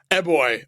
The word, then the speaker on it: Eboy: Eboy.